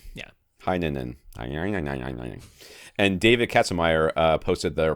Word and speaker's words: Heinonen: Heinonen.